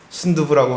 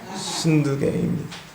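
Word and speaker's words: 순두게: 발음 잘 하셔야 돼요. 순두부라고 하시면 안 됩니다. 순두계입니다.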